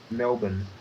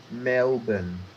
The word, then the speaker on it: Melbourne: How do you pronounce that city name, Sam? Melbourne. Say that slower. Melbourne.